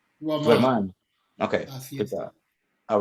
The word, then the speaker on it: duerman: Because you're saying duermen, and that's exactly what you got there, duermen. Now, I don't know if you meant to say that, because it should be A-N. Duerman. Duerman.